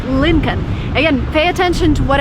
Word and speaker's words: Lincoln: American cars it's called Lincoln again pay attention to what I'm saying here it's not Lynn calm the way it's written there is an L